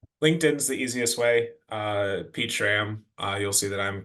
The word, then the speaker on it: Pete Schramm: the easiest way uh pach sham uh you'll see that I'm connected to Alex and the easiest way to remember how to say my name is with two emojis a peach and a ram see if there's anybody